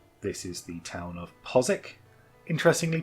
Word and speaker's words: Postwick: Pronounced Postwick, not Postwick, as a lot of people have been saying. Lived in Norwich for quite a while, they're very insistent on it being Postwick.